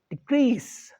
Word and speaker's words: decrease: When it comes to the verb, other way around, is decrease. So the D is not stress, second syllable is stress. So decrease.